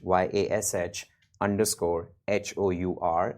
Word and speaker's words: Yash Hour: It's Yash, YASH _ HOUR. It's Yash Hour, rhymes with rush hour.